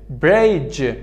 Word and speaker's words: bridge: Bridge دی سایلنت است، از جی شروع میکنم.